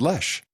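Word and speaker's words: Loesch: less like dana lotion no she pronounces it lesh she says los dana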